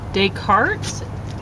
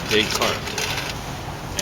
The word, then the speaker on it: Descartes: So I'm talking more about the modern intellectual tradition from Descartes to Derrida. How do I say that? It's French, so it's Descartes.